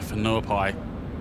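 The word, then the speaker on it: Whenuapai: We will most likely be going to Fenuai, which is just north of Oakland. Fenuai spelled with a W.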